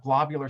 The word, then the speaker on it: globular: a little bit about globular star clusters and so globular star clusters uh should make you think of a globe not a glob many people suggest that